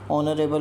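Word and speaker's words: honourable: Honest में इस silent होता है, ऑनरेबल पर्सन में भी जो है ना इस साइलेंट होता है, तो एन का इस्तेमाल करेंगे।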